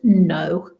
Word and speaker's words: know: So you will also know the word no when you also have a KN and the K is silent again there.